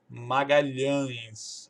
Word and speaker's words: Magalhães: Para pronunciar tanto o LH como esse ATIO aqui Magalhães.